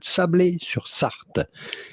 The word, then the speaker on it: Sablé-sur-Sarthe: the Sarthe department of France that is called Sablé-sur-Sarthe.